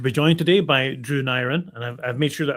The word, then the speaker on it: Neirin: Yeah, Neirin. Rarely Neirin, unless someone's Welsh, and then they usually get it right.